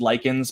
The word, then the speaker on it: Lichens: While writing it, I was listening to the score of Candyman, the new one, which was scored by, I believe it's pronounced Likens, but spelled Lichens.